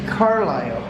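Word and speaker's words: Carlisle: here in Carol carile I guess I've been saying it wrong it's carile Pennsylvania y hi everybody but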